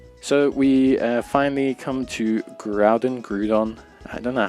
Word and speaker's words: Groudon: So we finally come to Groudon. I don't know how to pronounce it. I've always said it's Groudon, but hey, it's gonna depend on you.